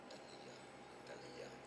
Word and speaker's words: Athaliah: Athia, Hebrew, the original Hebrew pronunciation is something along the lines of Athaliah.